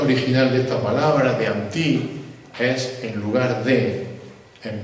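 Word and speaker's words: ἀντί: palabra en griego no sé si la hab pronunciar bien es muy sencilla anti como anti pero con natile en la i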